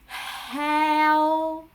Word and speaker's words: heo: Et O, simplement O, avec l'accent vietnamien un peu niais au niveau de la gorge. O, O, O. Voilà. Donc, E et O, ensemble, ça fait Eo, Eo, Eo. Et avec le souffle du H devant, ça va faire Heo, Heo. Voilà, nous avons Heo, le porc dans le vocabulaire du sud.